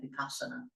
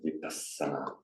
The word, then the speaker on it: vipassana: at the end, and also with the doubled S. Remember, vipassana.